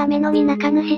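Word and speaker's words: 天之御中主: ご紹介しますどちらも読み方はアメノミナカヌシで後ろに中身やのみことがつきますアメノミナカヌシの主なご利益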